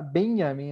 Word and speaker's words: Benjamin: O correto seria Benjamin, né? A pronúncia, né? Benjamin.